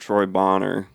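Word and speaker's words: Troy Boner: Like in the case of Troy Bonner, his last name's spelled Boner, but it's pronounced Bonner.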